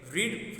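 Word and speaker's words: read: Okay, रीड, रेड, रेड हो जाता है. स्पेलिंग सेम है लेकिन प्रोनाउंसिएशन डिफरेंट है. रेड हो जाता है, उसे रेड प्रोनाउंस करते हैं.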